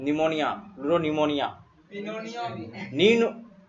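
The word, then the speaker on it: pneumonia: निमोनिया, pleuro निमोनिया। पिनोनिया Nino, P silent रहता है। और निमोनिया।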